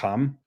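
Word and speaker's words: חָם: This is not Greek, but so we say Ham in English, but in Hebrew it's Ham, with that like pharyngeal fricative.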